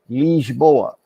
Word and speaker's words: Lisboa: But in honesty, the way the language is pronounced, that I is always E.